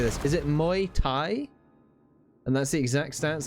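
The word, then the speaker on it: Muay Thai: though um the My My Thai is that's how it's pronounced My Thai the skin Felisa saying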